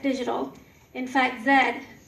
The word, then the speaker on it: ZED: the president of ZED Digital. In fact, ZED is for the letter Z.